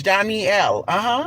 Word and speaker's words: Janelle: Yeah, it looked like it's spelled Janelle, but it's not. It's Johnny L.